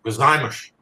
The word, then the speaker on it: Gozaimasu: And the U is silent in Japanese to basically make the sound of the S. Gozaimasu. Gozaimashita.